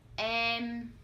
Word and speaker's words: Em: Cây and Mây Next, Em Em This one sounds similar to 'Damn' in English For example Kem and